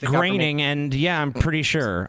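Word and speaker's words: Groening: Shadow of a doubt that Matt Grooning is not part of a secret society. It's pronounced graining.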